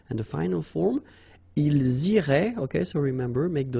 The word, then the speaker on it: iraient: And then if you look carefully, you get A-I-E-N-T. Okay? But then phonetically, it goes like E. Okay? So, technically, these form and these forms here are pronounced the same way. And it goes like irait.